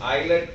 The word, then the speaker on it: islet: The endocrine tissue, especially the hormone produced by it, is known as, the cells is known as islet of Langerhans. The S is silent there.